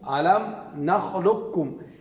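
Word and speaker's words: ألم نخلقكم: تیسرے نمبر پر ہے علم نخلقکم. علم نخلقکم. اس میں بہتر یہی ہے کہ مکمل ادغام کیا جائے.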